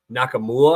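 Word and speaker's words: Nkamhoua: of Hunter Dickinson but nakam mua I think is how you say it dude is a stud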